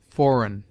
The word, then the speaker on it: foreign: G is mute before N, as nash, sign, foreign.